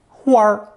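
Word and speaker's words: 花儿: For example, a flower in Northern Mandarin is a combination of 花 plus unstressed 儿, 花儿.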